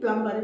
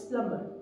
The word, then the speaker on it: plumber: Whereas the word B is silent, we don't say plumber, it's plumber.